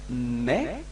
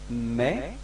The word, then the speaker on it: mes: So you get mais, repeat. Mais, so you can see that you don't pronounce the final S, okay, but this combination S gives you the sound E, okay?